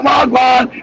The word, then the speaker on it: wagwan: Wagwan. That's what I know. Why Joe never say wag. We say wagwan.